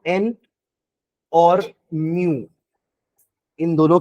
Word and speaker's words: mu: निकाल देना, तो ये म्यू होता है। क्या होता है? म्यू, म्याऊ नहीं, म्यू, म्यू ऐसे, रेड लाइक दिस, मुंह मत पढ़ना इसको ना।